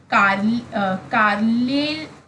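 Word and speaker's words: Carlyle: ठीक है, Thomas Kyle या Kyle what ever you pronounce it, कार्लेल pronounce करें, कार्ल याद रखो आप।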